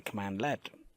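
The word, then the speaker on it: cmdlet: are actually called as CMD lets so the exact definition for a CMD let which we pronounce it as a command let is a lightweight Windows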